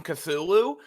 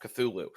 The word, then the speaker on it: Cthulhu: and tells you about how uh lovecraft himself tried to pronounce the name it was like it's like it's like a breathy kind of thing yeah yeah it's like a lot of heck a lot of h sure like a lot